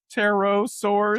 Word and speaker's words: Pterosaurus: The P is silent. The Pter Pterosaurus Pterosaurus Pterosaurus.